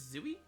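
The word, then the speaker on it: Tzuyu: And I know like for anyone that's like a Twice fan, uh I know Chewy is technically not the proper way to um pronounce her name. I believe it's Zooie.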